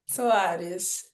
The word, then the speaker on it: Soares: Did I pronounce the last name right? Soares, is that right? Soares.